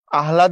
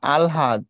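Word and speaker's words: আহ্লাদ: হটা যাবে এটা ঠিক অর্থাৎ এটার উচ্চারণ কেউ যদি এরকম করে আহলাদ লিখে সেটা ভুল এটার উচ্চারণ হবে আলহাদ আগে ল তারপরে হ এই কথাটা এখানে ব্যাখ্যা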